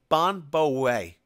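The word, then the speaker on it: bún bò Huế: oil added to it pronounced bon bow way Bombo way bro I had it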